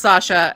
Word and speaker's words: Sasha: Definitely pronounced Sasha, and it comes from the name Alexander.